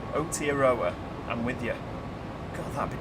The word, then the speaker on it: Aotearoa: It's pronounced Aotearoa. Aotearoa.